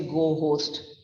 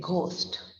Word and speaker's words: ghost: about the letter h the letter h in the word ghost is silent so ghost is like the edge goes out we don't say go host we say ghost ghost so it rhymes with most spelling bill so it